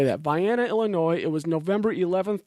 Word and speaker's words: Vienna: It looks like the word Vienna, like Vienna, Austria, but I discovered that people pronounce it Vienna. So I will try to say that. Vienna, Illinois.